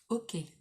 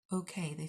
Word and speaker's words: OK: Ok. It's funny because okay, it's kind of pronounced in French, it's pronounced ok instead of oka, which is funny.